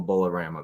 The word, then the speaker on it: Bowlerama: will be sorority babes in the slime ball bowlerama is that correct did I pronounce that correctly yeah um yeah bowlerama there we go Rama yeah so anyways we'll